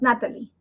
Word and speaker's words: Nathalie: Spanish I'm from Ecuador you don't pronounce the h the H is silent so it becomes Natalie so that's probably why